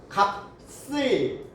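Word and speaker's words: 값을: 시옷을 넘기니까 뭐라고 발음해야 돼요? 몫을. 근데 이렇게 하지 않는데요. 이런 건 어쩔 수 없어. 외워야 돼. 어떻게 발음을 해야 되느냐? 시옷이, 겹받침 중에 시옷이 뒤로 연음이 될 때는 된 소리로 바뀐대요. 그럼 어떻게 발음해야 돼요? 먹쓸, 먹씨, 값쓸.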